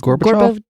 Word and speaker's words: Gorbachev: It said that the Soviets strongly opposed the SDI, and talks between Reagan and, I'm not sure how to pronounce this. Gorbachev.